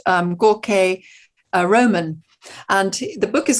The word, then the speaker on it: Jorge: His name is spelled Jorge, but it's pronounced Gorke. Okay. And Gorke Roman, a young guy, incredibly well researched.